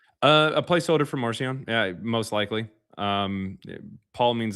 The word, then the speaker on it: Marcion: A placeholder for Marcion, yeah, most likely. Paul means the small one. Marcion is pronounced Marcion, means little Mark.